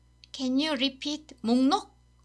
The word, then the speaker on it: 목록: Can you repeat 목록?